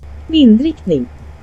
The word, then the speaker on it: Vindriktning: a llamar Vin, y si tienes curiosidad por saber cómo se dice en sueco, aquí te lo pongo. Vindrickning, vindrickning, vindrickning.